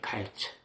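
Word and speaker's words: קַיִץ: 한국 사람들하고 좀 다른게이 원문에는 여름과이라고 하는게 어 카에처예요. 카에처. 그러니까 발음이 카일처.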